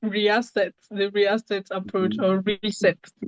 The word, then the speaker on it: Reaset: Did I pronounce this correctly? Riasset. the reasset approach or reset. It's reset approach.